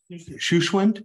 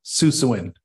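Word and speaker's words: Susewind: Shushwind? Susawind.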